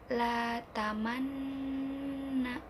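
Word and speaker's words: لا تأمنّا: Jadi pengucapan ismamnya itu tidak dilafalkan, cuman digerakkan bibir monyongnya aja, jadi la tamanna.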